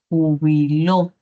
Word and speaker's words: jubiló: Como aquí la palabra, por ejemplo, júbilo, ¿cierto? Sílaba tónica. U bilob, sílaba átona. Sílaba átona. Pero si muevo esa sílaba tónica a otra posición, puedo obtener otro valor significativo. Entonces podría tener jubiló.